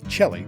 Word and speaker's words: Chelly: It's spelled Chelly, but trust me, it's de Chelly.